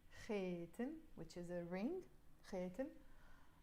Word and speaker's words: خاتم: خاتم, but in Lebanese we will pronounce it خاتم, which is a ring.